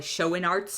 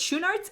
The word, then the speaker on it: Schoenaerts: of the two leads it's matthias schonartz or probably show in arts it's as how i'm guessing americans would pronounce it but he's belgian so it's shown arts and joel kinnaman who